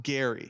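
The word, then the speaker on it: Gerry: Gary. Spelled like Jerry, though, with a G. I had to do my research to figure out how this was pronounced. It is pronounced Gary.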